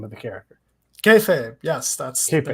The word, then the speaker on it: Kayfabe: Kayfabe, yes, that's Kayfabe, the name of the book.